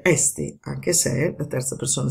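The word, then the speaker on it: ἔστι: all'inizio di frase e con l'accento ritratto. Quindi si legge esti, anche se la terza persona singolare del verbo essere, quindi è mi, è esti.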